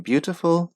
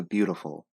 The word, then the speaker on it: beautiful: So it goes from beautiful to beautiful. Can you hear the difference? Beautiful. Beautiful. What this allows you to do is to speak and read faster. And it's actually easier on your tongue.